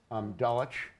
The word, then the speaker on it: Dulwich: have it at the American school or at Dulwich correctly pronounced there but but there are a lot